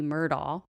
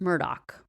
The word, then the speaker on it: Murdaugh: things, is that although their name is spelled Murdaugh, which when you read it, you would think it would be Murdaugh, it's actually pronounced Murdaugh, like with a K on the end.